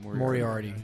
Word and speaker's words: Moriarty: Moriarty.